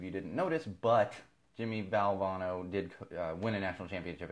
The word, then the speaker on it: Valvano: Jimmy bell Jimmy valve I'm gonna make sure I'm pronounced all bono I always want to say Valverde Jimmy Valvano actually won a national